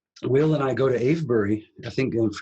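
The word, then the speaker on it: Avebury: And uh so then fast forward um Will and I go to Abury I think and correct me if I'm pronouncing the name wrong.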